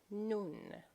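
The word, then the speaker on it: نون: So this is the letter which is the equivalent of N in English. In Farsi it is called Nun.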